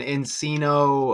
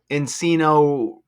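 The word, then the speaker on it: Encino: And they say this mansion was in Enino and Enino uh Enino rhymes with casino.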